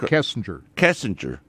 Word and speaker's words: Kessinger: This was before the Is it Kissinger or Kessinger? Right. How do you pronounce it? Come on. Derek Kessinger. Kessinger. I think so.